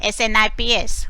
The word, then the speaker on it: SNP: Differences, variations, and short form you write it as SNPs, called as SNPs, SNIPS pronunciation, SNPS, SNPs.